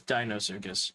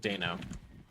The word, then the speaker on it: Deinosuchus: Okay, it is Deinosuchus. Okay, not Dano. It just feels weird calling something Dino Like, not D-I-N-O, like dinosaur, but D-E-I-N-O.